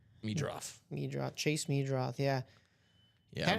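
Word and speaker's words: Meidroth: Let me double check that I've got the correct pronunciation, but I think it's Meadroth. Yep, Meadroth.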